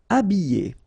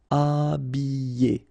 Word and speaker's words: habiller: Habiller. Okay, remember I, double L, and then a vowel, Y, Y. Habiller. H is not pronounced. Habiller.